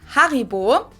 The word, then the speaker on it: Haribo: But Haribo or horrible? I want to go with one of those two. We pronounce it Haribo.